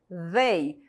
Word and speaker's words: they: Então, fala assim, they, como se fosse um Z entre os dentes, tá?